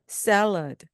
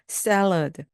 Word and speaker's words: salad: 영어로 salad. 앞부분을 강하게 그냥 해주시면 됩니다. salad.